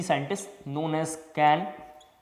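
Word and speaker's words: Cahn: CIP इज द 3 scientist known as कैन, double कैन इसका नाम है, H साइलेंट है।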